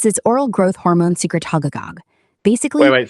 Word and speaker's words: secretagogue: So, is it a secretolog? Secretolog. Say it again. Secretago. You stuttering fuckets. It's secretagogue, not secretolog, all right?